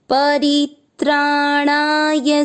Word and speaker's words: परित्राणाय: और मिक्स करने पर ई की मात्रा छोटी परित्राणाय मिक्स करें परित्राणाय साधुनां की मात्रा बढ़ी लंबा खिंचने से अधिक उन्नत पुराण के अनुसार आधा साधुनाम चरणपीठ परित्राणाय साधूनाम दूसरा चरण की मात्रा छोटी लंबा और